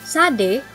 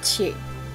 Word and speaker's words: Shadé: Yes, it's actually pronounced Sade, not Che.